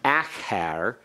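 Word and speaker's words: אַחַר: Now please keep this straight from acher as opposed to acher. Acher is a preposition. Acher is accented on the first syllable, and it has a pathak under the haith.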